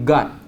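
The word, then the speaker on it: قات: Nama dia qat. Ejaan dia qat, qaf alif ta. Tapi orang Yaman panggil gad, sebab orang Yaman dia huruf qa dia sebut dengan ga.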